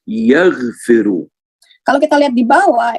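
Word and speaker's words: يغفر: And if you look at the bottom one, it's yaghfiru. Kalau kita lihat di bawah itu menjadi yaghfiru, dibacanya yaghfiru.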